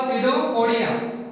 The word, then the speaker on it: pseudopodia: This is called pseudopodia. Here P is silent.